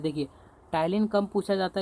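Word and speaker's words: Ptyalin: है, इसको कहते हैं टाइलिन। इंग्लिश में देखें तो पी जो है साइलेंट होता है, टाइलिन कहते हैं।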